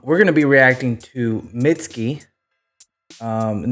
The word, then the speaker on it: Mitski: I'm saying the name right what is it mitsky yeah I said it right so this is